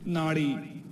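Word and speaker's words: नाड़ी: There are very similar word in Shansrit is called nadi and we write in the same way like n a d i. The different only is pronunciation.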